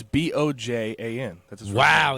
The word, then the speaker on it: Bojan: It's Bojan. That's his wow. name. It's Bojan.